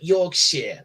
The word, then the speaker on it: Yorkshire: Shire at the end don't pronounce it pronounce it Shear like like like like Yorkshire Lester share lanare box